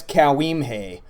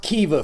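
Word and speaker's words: Caoimhe: How do you think it's pronounced? The readers among you might guess Cowimhe. Wrong, you book-reading dummy. It's pronounced Kiva for some fucking reason.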